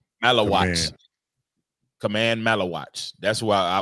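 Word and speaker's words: Maluach: Malawach.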